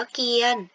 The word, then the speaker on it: เกียรติ: ออก เสียง ว่า เกลียด คำ นี้ อ่าน ว่า เกียน เป็น เพราะ ว่า มี กอ ไก่ เป็น ภาชนะ ต้น มี สระ อู เงี้ย เป็น สละ ที่ มี รอ เรือ ทำ หน้า ที่ เป็น ตัว สะกด ส่วน ตัว ต่อ เต่า สระ อิ ทำ หน้า ที่ เป็น ตัว การันต์ นั่น เอง ค่ะ ลอง อ่าน นะ